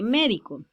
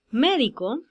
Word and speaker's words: médico: marca veamos el caso de médico médico la sílaba tónica es mail o sea que no están en la última sílaba ni en la penúltima sílaba sino en la antepenúltima sílaba a sílaba tónica que dice la regla que todas las estructuras llevan tilde igual ocurre con las